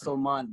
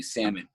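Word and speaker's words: Salman: people call me my name is solman but sal is just so much easier considering i grew up in brooklyn and no one could pronounce my name and they kept calling me salmon so you know that's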